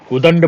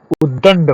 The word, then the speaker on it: उद्दंड: सही है ओके उदंड उदंड बोलते हैं 90 पर लोग बोलते हैं उदंड उदंड मत करो उदंड आदमी हो उदंड लड़का है यह वाला गलत है उद्दंड होता है उद्दंड यह वाला शुद्ध है उल्लंघन कितने लोग उल्लंघन